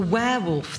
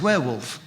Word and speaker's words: werewolf: would he pronounce the wherewolf that's about to come through the door well there's no h in that it's werewolf where where werewolf no